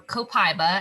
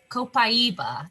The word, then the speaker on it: copaiba: have the last one here is copaiba or copaiba as some people like to say myself included i'm guilty of not pronouncing it properly so i'll say it again copaiba is how the brazilians say it i believe so this is